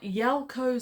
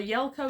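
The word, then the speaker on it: Yalco: Another of our characters is Colonel Yelko Smith.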